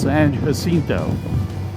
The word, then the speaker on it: San Jacinto: in a 15-minute battle at the Battle of San Jacinto should be pronounced San Jacinto and I mentioned earlier that I worked in